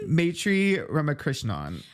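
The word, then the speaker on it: Maitreyi Ramakrishnan: Maitri Ramakrishnan.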